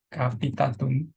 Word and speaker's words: capitatum: Multangulum maius, multangulum minus, K sama ini C, capitatum. Makanya bacanya K jadi.